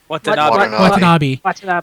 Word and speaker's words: Watanabe: Watanabe.